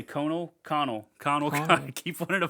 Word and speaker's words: Conal: let me finish this section first, and then we got Conal Cochran, which the first name Conal is weird. Conal. Connell. Connell. It's Connell.